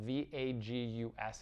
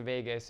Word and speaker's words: vagus: It's spelled V-A-G-U-S in English, vagus.